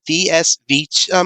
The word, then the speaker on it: VS: changer is called um it's not a versus changer figure let you know on that friends uh if you pronounce the letters separately vs changer that's because i kept thinking it was a versus changer myself but uh anyway but